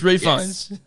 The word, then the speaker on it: Fiennes: menu featuring Ralph Venus actually it goes refines for some reason to pronounce the L on this but oh yes we totally had this conversation the last time we did it it's refunds take you with me